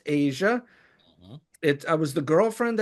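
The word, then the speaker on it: Aja: There's Asia AJ Abe and it's pronounced Asia.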